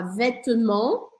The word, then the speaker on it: vêtements: O T e o S a gente não fala no final das palavras em francês. Então a gente fala vêtement.